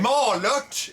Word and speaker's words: Malört: I will drink the Malort in your stead. All right. Malört is what you're saying.